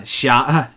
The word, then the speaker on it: 霞: Yeah, xia, like the word for red clouds. Xia, or xia. Yes, xia.